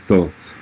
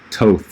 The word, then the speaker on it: Thoth: in the creation of the emerald tablets of thoth or toth or however you want to pronounce his name any you know reincarnated several